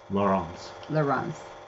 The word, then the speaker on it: Laurence: Mine is the French pronunciation, Leuren, and his is the Dutch pronunciation, Laurence.